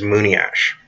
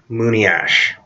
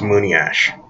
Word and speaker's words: monias: for white man is Moony ash it's not pronounced Moony as I liked how some people bounce it it's pronounced Moony ash again the cream word for white man is Moony ash